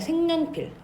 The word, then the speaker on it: 생연필: 요거 생연필 있죠? 얘 우리 발음할 때 생년필 이렇게 발음하잖아. 이건 뭐 때문이냐? 니은 첨가가 일어나요.